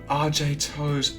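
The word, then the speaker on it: RJToes: Riato RJ so easy RJ like like the Toronto Raptor player Barrett RJ toes.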